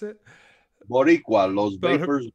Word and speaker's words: Boricua: How do you pronounce it? Boricua, Los Vapors Boricua.